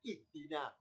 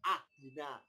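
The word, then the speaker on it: اهدنا: Kenapa kita terbiasa bacanya ihdina? Kok tidak ahdina? Kok tidak uhdina? Ya karena huruf ketiganya kasroh. Karena dalnya kasroh, alifnya ikut kasroh.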